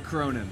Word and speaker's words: Cronin: I'm Cronin.